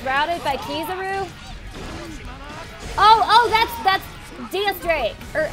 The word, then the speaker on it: X Drake: Oh, that's DS Drake, or X Drake, or whatever he goes by. It's spelled X Drake, but like pronounced DS Drake.